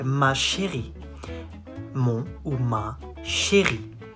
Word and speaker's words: chérie: You say ma chérie. Mon ou ma chérie. Chérie. Not chérie. Chérie. Ri.